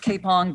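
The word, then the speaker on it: Kapyong: amazing it's a basically a battle but it's pronounced k-pong but it's spelled k-a-p-y-o-n right tank ambush 700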